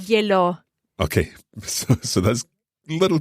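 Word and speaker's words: gliel'ho: verb to have, o, because H is mute, to avoid gliela o, which is a bit tricky to pronounce. There are two vowels. We can just drop the final a of gliela, have an apostrophe, and run it all together and say glielo.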